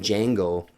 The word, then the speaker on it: Django: is talking to, and he's talking about the spelling of his name, saying the D is silent.